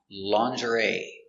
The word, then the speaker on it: lingerie: This word has a strange pronunciation because it comes from French and it is pronounced lingerie.